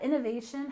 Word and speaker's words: innovation: next we have Innovation you remember that innovation has stress on the third syllable innovation Innovation and this means creating